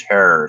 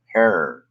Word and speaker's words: Herrera: Remember, his name is Herrera. If anybody ever asked how it's pronounced, Herrera. And Jack Herrera loved his name because it rhymed with terror.